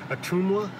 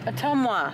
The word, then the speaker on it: Ottumwa: Street the tongue ottumwa a tumor no atoma there's no you in it how do you say it again Ottumwa but um wha I